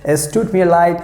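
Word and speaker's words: es tut mir leid: me a light s toot me a light s took me a light so if you do something so you can say s took me a light i'm sorry s took me a light stood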